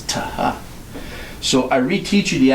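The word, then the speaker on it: θ: It was a tau, this letter, with an aspiration, a hard H sound. Ta-ha, ta-ha. So if we say the word hot house, okay, that's how they would say this letter. It wasn't th, it was ta-ha.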